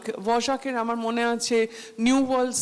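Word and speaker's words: Dvořák: আর আমি বাপিকে বলতাম এই ডি এর পরে ভি ও আর কে, এটা কি কোনো উচ্চারণ, কি এটা ভজাক কি করে হয়? বাপি আমাকে বলতো যে এটা হাঙ্গেরিয়ান উচ্চারণ, তুমি বুঝবে না, তুমি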